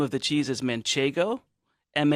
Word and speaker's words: manchego: a cheese called man Cheng oh excuse me manchego manchego is a cheese from La Mancha so it's love it's men shaken like Don Quixote is Michigan and the full name of the cheese is manchego ma n CH e G oh no N